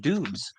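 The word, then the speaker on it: Doubs: soon for Romeo dobs I think it's pronounced dubes it's not may you got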